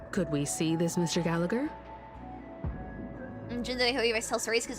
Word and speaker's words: Gallagher: to G Gallagher it's Gallagher not gager right I think it's the the G you pronounce such tight security they're